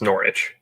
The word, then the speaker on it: Norwich: coffee and kieran says it's a silent w so it's norwich okay easy day wait